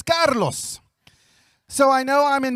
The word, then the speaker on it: Carlos: I appreciate the introduction many times people mispronounce my name but it is Carlos so I know I'm